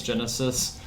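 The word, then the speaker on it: Genisys: What he was in Terminator Genis? Genesis. Wasn't he in that? Really hit Genis. Isis, it's spelled like a idiot.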